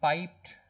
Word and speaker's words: piped: Again, piped is one word, 2 syllables. Sorry, 2 vowels, but 1 syllable, 1 sound. Piper is 2 syllables. Piper. Pipe is 1.